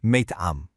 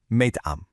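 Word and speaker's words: مطعم: It's pronounced meyt'am. One more time now, meyt'am.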